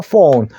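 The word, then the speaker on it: phone: 됩니다 외국인도 다 알아듣지만 정확한 영어 발음은요 PH 소리가 F 자 소리납니다 그래서 폰 폰이라고 말씀해 주셔야 됩니다 이어폰 이어폰 듣는죠 자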